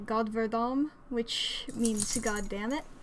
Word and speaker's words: godverdomme: Another one I use whenever my mom's not around, I say God verdomme, which means God damn it. It's another rough G. I don't even know how else you would pronounce the letter G.